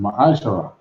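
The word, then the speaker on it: מעשר: Means tenth in Hebrew and is pronounced ma'ashara. 10% of every penny of any increase the Lord gives you into the Treasury Department or teacher.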